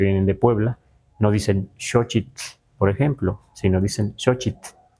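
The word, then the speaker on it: xochitl: Es muy suave la TL al final. Elot, tetokot met, o sea, no es no es no debe ser muy exagerado, no debe ser muy largo como algunos pronuncian nesa walcoy así como muy largo, no está bien dicho, aunque así lo digan muchos locutores, ¿verdad?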